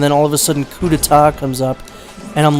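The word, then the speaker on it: coup d'état: Coup d'etat, but I thought that it was pronounced Coup d'etat. So that took me way longer than it should have to realize that it's actually pronounced Coup d'etat.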